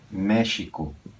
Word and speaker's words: México: o mesmo acontece com México se escreve com x Esse é o ideal e se pronuncia j mer vai ter gente